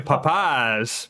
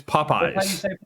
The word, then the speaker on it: Popeyes: doing that with popeyes you're saying papayas papayas it's it's popeyes popeyes that's how you say it yeah but you've